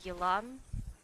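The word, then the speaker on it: Yelan: Элань Елан. Ну, технически, если переводить ее, как это сказать? Ну, я ее называю Елан, кстати. Потому что по-английски это так и пишется, Елан. Поэтому я и так иногда ее называю.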